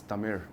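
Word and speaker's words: தமிழ்: And when we write ZH, it doesn't mean, I don't know what ZH can be pronounced at, but for them it means R. Okay. Yeah. Okay. Right? So it's not Tamil actually, it's Tamil.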